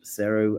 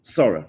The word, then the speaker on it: Sora: This is coming again from Open AI's um sero um engine and we're essentially being able to see just from prompts something looking um incredibly real. Sora, sorry was the pronunciation of it.